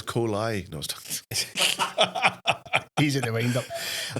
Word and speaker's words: Kohli: Was it a bad time to point out you've mispronounced my name for the last hour? Ever? You at it? Sanjeev. Sanjeev. I'll answer to Sanjeev, but Sanjeev. There you go. Aye. And it's Kohli.